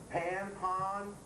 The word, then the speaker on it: Pan: They also pronounce that pond, right? Pan, pon, P-A-N.